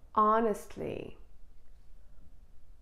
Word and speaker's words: honestly: So in the following examples, the H is always silent. Can you try and say that? Honestly, honestly.